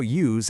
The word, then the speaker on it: use: Let's talk about use as an action word, the verb. And remember, this is the one with that buzzing Z sound at the end.